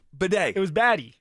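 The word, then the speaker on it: Badie: Who was the Bronco that changed how to say their name? Bidet. It was Batty. We called him Tyler Batty. And then that was like a year of that. He was like, stop calling me a baddie.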